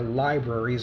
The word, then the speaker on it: libraries: libraries we know that make sure you pronounce the r in that word like i almost didn't there libraries ben franklin established the